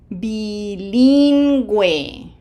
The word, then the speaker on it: bilingüe: We have to smile twice for the eyes, and that U is not silent. So, did you try it? Bilingüe. Bilingüe.